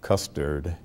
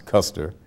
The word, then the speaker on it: Custer: The average person would say, oh, the only thing in Monroe is custard. And for some reason, they couldn't pronounce Custer.